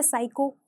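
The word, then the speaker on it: psycho: को साइलेंट रखना है नेक्स्ट वर्ड है साइको साइको य आपने सुना होगा य कहीं पर पड़ा होगा सो यहां पर जो हमारा सबसे पहला लेटर है पी वो साइलेंट रहेगा जब आप इस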